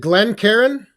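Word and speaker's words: Glencairn: mail here the uh is it glenn karen that's right that's how you say it the glenn perrin glass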